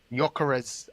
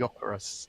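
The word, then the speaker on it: Gyökeres: Yarez. I was saying his name wrong that time as well. Apparently it's Yurus.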